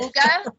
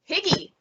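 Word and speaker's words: hygge: And I just want to say I'm glad that I now know how to pronounce it. Uga, because anytime I've seen that, I'm like, Higgy. Higgy.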